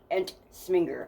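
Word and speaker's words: Ensminger: n g e r an smer I believe is how you would say it and they formed the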